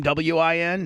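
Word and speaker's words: Nguyen: WIN, WYNN. WHINN, couldn't you? WHINN. Sure, why not, Bubba? Quinn. Or like in a baseball or a football game, WIN, right?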